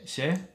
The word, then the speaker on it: chez: Chez? Chez. Oh, chez. Chez. Tu vis chez tes parents? Not like the ceviche, but like not the ch. The tongue that doesn't go t, but chez.